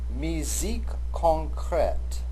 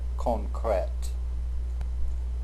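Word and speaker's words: musique concrète: Misique concrete. I remember I giggled when I first heard this phrase pronounced properly. And I certainly will not hold you to that pronunciation. It's perfectly okay to say concrete or muscret.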